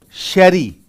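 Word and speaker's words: Jerez: R E Z but it is pronounced as Sherry.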